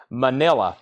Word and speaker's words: Manila: Manila, pronounced like vanilla.